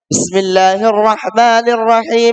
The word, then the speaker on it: Bismillahirrahmanirrahim: adalah itu dengan membaca Bismillahirrahmanirrahim. Alhamdulillahirabbil alamin. Dikatakan hamzah yang ada al, maka di situ dilangsung dan huruf mim di bismillah itu hurufnya kasrah kan. Bismillahirrahmanirrahim. Alhamdulillahi rabbil alamin. Itu disunnahkan untuk diwasal.